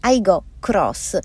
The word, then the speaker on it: Aygo X: punta anche alle flotte si scrive ego hicks si chiama toyota aygo cross l'ultima arrivata nella gamma